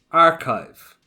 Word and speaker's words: archive: That CH tends to really trip some students up and they tend to say archive. So make sure you're not doing it with a ch, archive, but it's archive, archive.